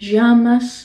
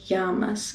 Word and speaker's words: llamas: The double L is pronounced differently in different countries. You can pronounce it more with a Y or maybe even sort of a J sound, like llamas. But this is a letter in Spanish that is not pronounced just like two L's. It's pronounced as more of a Y sound.